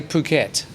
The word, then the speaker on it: Phuket: do you say phuket between a g and a k sound yes but it's more towards the k sound uh okay chai how do you say phuket no yeah okay between a yeah but the emphasis is on the kit yeah so it's definitely